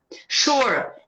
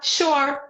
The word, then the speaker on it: sure: Sure. Fala como se fosse SH, tá vendo? Então, se você entende como é que a palavra é pronunciada, é como se fosse pra gente SH. Sure.